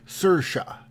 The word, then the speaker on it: Saoirse: pronunciation of her name it's pronounce Saoirse Saoirse Saoirse Ronan Saoirse Ronan Saoirse una